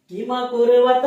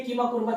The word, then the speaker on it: किमकुर्वत: तो मामका पांडवाश्चैव, मेरे और पांडु के पुत्रों ने, किमकुर्वत संजय, ये देखिए किमकुर्वत ऐसे लिखेंगे, वैसे तो आप किम कुर्वत उसको बहुत लोग पढ़ते हैं, जो कि अशुद्ध उच्चारण है।